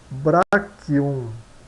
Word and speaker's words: brachium: Então o K, CH se pronuncia como K, então nós temos branchium, branchium, né? Então nós temos pronunciada ela como brachium, brachium, braço, né?